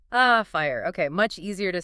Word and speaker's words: FHIR: This is where we get to fast healthcare interoperability resources which is uh thankfully pronounced fire. Ah fire.